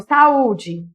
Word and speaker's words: saúde: Por exemplo, saúde. Qual que é a sílaba tônica?